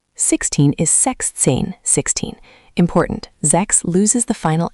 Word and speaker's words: sechs: Six is sechs, six. This one is crisp, sechs, with that ch like a soft raspy ending.